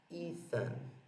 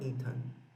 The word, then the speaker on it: Ethan: Você vai pronunciar Ethan, e não Ethan.